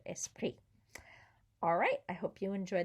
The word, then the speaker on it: esprit: a liaison there because esprit starts with a vowel and so the s carries over meses pre remember also don't pronounce the s or the t on the end of esprit alright i hope you